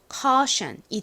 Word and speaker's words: caution: 그래서 연결해보면 caution이 됩니다. 따라해보세요. caution, caution. 좋습니다. 이 caution의 의미가 뭐냐면요.